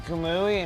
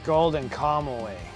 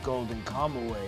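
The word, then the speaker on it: Golden Kamuy: I was always saying golden kamui and it's not that. It's Golden Comaway. Um, they finally corrected me after watching 60 episodes. They're like, "It's a golden combo way."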